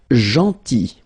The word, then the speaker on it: gentil: Then, gentil. So remember this final L is not pronounced.